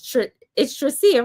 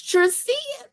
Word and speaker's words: Tricia: Trisha, were we saying your name wrong? the whole Trisha cuz I feel like when Dr. Lisa say she say Trisha too and it's really Trisha. It's it's Tricia.